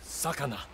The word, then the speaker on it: Sakana: It is pronounced Sakana.